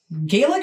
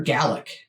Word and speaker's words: Gaelic: now but still um Gaelic or gallic because over here we always say Gaelic which I think is probably wrong well he's saying the other way sir yeah anyway that